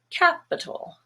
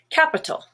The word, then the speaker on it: capital: vowel is black but the i and the a here are also schwa capital capital relative has a stress